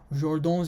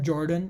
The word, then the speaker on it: Jordan: master stroke it's called jordan's inequality it's not jordan it's not it's not an american name it's jordan it's it was a french mathematician hence the pronunciation is weird so now jordan's inequality